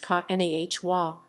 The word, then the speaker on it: Kanawha: The origin of the word Kanawha, pronounced Kanahwa, Kanawha, derives from the region's